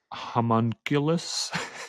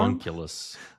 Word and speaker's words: homunculus: Homunculus charm. homunculus. Yeah. Homunculus. Homunculus sounds like a hot monkey.